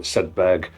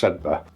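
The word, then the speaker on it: Sedbergh: youth, where he explained to me how you pronounce Sedba. I pronounced it Sedberg, but it's actually pronounced Sedba.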